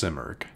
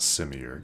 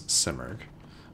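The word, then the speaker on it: Simurgh: watching let me know I think it's actually pronounced simerg not similar it's simerg but anyway but yeah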